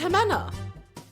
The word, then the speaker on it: Ximena: Anyways, you can say my IRL to chat if you want to pronounce it. Thank you very much. Wait, your IRL name is Jimena, right? It's Jimena.